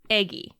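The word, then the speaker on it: Aegy: Today, in this moment, I am playing Eggie. Eggie? Eggie. Go on. It's spelled A-E-G-Y, and in your heart, you pronounce it like the word egg with 2 G's and 1 E.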